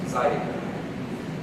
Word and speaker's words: zydeco: Because in Louisiana French and Louisiana Creole, the R is not pronounced like in France, it's pronounced with the tongue behind the teeth, and it sounds like a T sometimes. So, Zydeco becomes Zydeco.